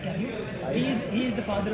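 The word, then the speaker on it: Camus: know about Albert his exact pronunciation is Albert it's not campus it's Albert Camu he He is the father of and he wrote the the game of sis.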